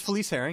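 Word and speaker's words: Felice Herrig: It's Felice Herring, yeah.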